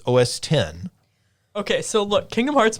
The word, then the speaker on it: OS X: It's not OS X, it's OS 10.